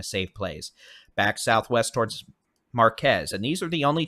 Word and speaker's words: Marquez: again circulation number one very near Marquez we could have two possible tornadoes with this storm now possible tornado one near Marquez or as Mr meteor Jason coie says that is pronounced Marque by the way forget that Z exists so Marque marqu I'm in